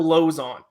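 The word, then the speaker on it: Lauzon: Even though you were still mispronouncing it, it's Joe Lozon. How dare you? Lozon.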